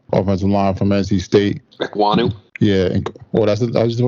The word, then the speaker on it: Ekwonu: Ekwonu. Yeah. How do you pronounce his name? Ekwonu.